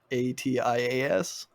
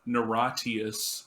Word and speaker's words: Niratias: I think it's Naratius. I was... How it's pronounced. It's like Niratias. Yeah. See, I was pronouncing it Naratius, but that was because of, like, the Pokemon Latias and Latios.